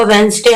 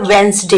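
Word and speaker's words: Wednesday: को तो पता होगा वेनसडे हम कब से पढ़ते हु आ रहे हैं मैंने इसे क्या बोला वेनसडे यहां पर द साइलेंट है तो आप डी को निकाल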